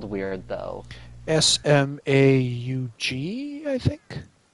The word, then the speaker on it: Smaug: keep talking about uh the dragon's name is smog yes the shmog it's spelled weird though s-m-a-u-g i think it's like smaug why am i